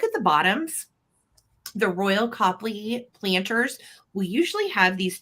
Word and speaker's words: Copley: David and he is a piece of Royal Copley some pronounce it Copley but it's spelled cooperly and I look at the pronunciation one time and it does say Copley phonetically speaking however how you choose to pronounce